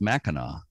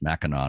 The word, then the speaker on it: Mackinac: a c uh but either way it's pronounced mackinac and i used to think it was two different pronunciations but it's not it's mackinac no matter how it's